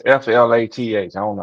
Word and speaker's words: Flath: Nah, it's Flath. I don't know how to pronounce that. That's why I said Floss.